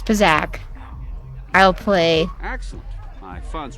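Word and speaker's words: Pazaak: I keep saying it wrong. It's Pazak.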